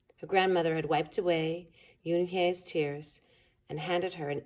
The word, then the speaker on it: Unhei: "Ooh, nay?" the girl asked, scrunching up her face. Ooh, nay," some kids shouted. No, Yoon-hye corrected. "It's spelled Unhei. It's pronounced Yoon-hye."